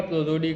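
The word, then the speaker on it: prosody: बोलते हैं काव्य तो पूरा हिंदी लिख लीजिएगा प्रो जोडी का सर आपने प्रोल पढ़ा ना सर नहीं प्रो जोडी वो ए साइलेंट है सर पी आर ओ प्रो हो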